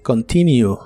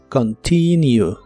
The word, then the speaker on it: continue: El verbo continuar en el presente de inglés es continue. La O de esta palabra se pronuncia como una A muy suave y la U se pronuncia como U. Continue.